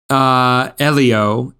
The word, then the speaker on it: Elio: How should I pronounce that, Eddie? Elio, and it's not Disney Animation.